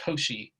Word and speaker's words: Cauchy: today is that of a koshi sequence because she was a french mathematician that's why we pronounce his name that way so a sequence of